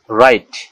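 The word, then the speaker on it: wrong: রং, ডাব্লিউ আর ও এন জি, রং, এখানে ডাব্লিউর পরে আবার আর আছে, এই ডাব্লিউটা অনিচ্ছারিত থাকবে, অর্থাৎ ডাব্লিউর উচ্চারণ হবে না, তাই এটাকে বলতে হবে রং, রং মানে ভুল।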